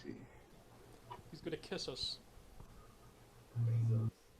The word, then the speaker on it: Bezos: Bezos. Yeah, that's how I pronounce it, Bezos.